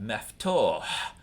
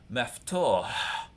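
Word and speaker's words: مفتوح: we've got maftoh, and learn to pronounce ha at the end of a word, which Americans don't want to do because we never say h at the end of a word in English.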